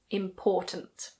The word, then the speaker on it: important: The stress is on the second syllable. Important. If you put the stress on the first syllable and say impotent, well, that means something else.